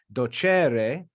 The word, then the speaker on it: docere: it sounds like but docere is pronounced with an accent on the second to last syllable because it's second conjugation and that e is